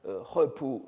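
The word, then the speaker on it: 合浦: Donc vous le voyez ici, donc il faut le prononcer en chinois, Hepu Juhuan.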